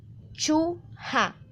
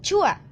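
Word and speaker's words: 좋아: reemplazar ion, o sea, se debería pronunciar la palabra de esta manera. Chu-ha, chu-ha. Pero, ¿qué sucede? Nosotros muchas veces hemos visto que la pronunciación de esta palabra es chua.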